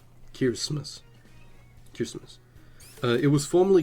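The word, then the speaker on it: Kiritimati: Uh, it its name is spelled Kirimati but uh pronounced Kirmus uh which is derived phonetically from the English word Christmas but written in Gilbert.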